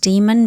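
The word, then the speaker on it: daimon: The D A I M O N. It is kind of pronounced demon but that gets very confusing.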